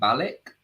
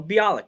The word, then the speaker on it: Bialik: so amy farah fowler um mayhem i can't pronounce the second name balik yeah oh bialik yeah bialik mayhem bialik is actually a scientist